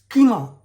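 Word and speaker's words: خمار: दूसरा है खीमर। कीमा दरअसल उसका प्रोनाउंसिएशन होगा।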